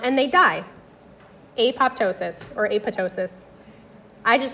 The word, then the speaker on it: apoptosis: Technically I think it's supposed to be aptosis because the PT is like in pterodactyl. It's silent supposed to be aptosis.